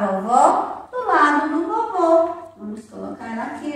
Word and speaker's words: vovô: Vovô tem o som fechado. Vovó tem o som mais forte.